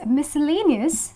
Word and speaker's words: miscellaneous: instead of C okay then there is miscellaneous where again C is silent and Fascinate where again